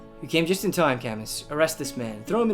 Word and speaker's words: Camus: Weirdly enough, Camus is pronounced Camus.